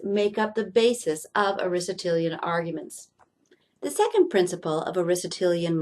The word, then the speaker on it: Aristotelian: course this is based on Aristotle and is pronounced Aristotelian and he had two main ideas the first